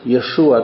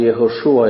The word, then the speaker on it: Jeszua: jesteś Piotr skała samo imię Jezus jeszua czy jehoszua jak to jest wymawiane po hebrajsku oznacza Jahwe zbawia Bóg